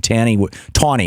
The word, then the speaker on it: Taney: Tawney, actually, is how he pronounced his name, Taney.